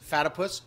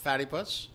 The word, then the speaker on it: Fatipus: Fatipus, not Fattypus. Rhymes with platypus.